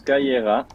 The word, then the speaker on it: Kira: Kira, comme ça se prononce, Kaira.